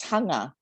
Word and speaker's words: Taga: so it's t-a-g-a but it's pronounced tonga so it's like there's a little n in there yep and the last